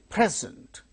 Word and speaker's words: present: Present, present, the initial syllable, first syllable gains stress when it is used as noun. Present, that is verb.